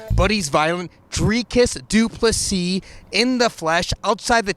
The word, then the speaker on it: du Plessis: middleweight in the world the S is silent buddies violent three kiss dupless C in the flesh outside